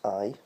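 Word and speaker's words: aye: As you know, that's I, which is the best way to remember it. If you're going to spell it on a Facebook or Twitter or something, you would spell it A-Y-E. Whereas if you were going to say it, and the best way to say it, like phonetically, is to say the word, this, the I, E-Y-E.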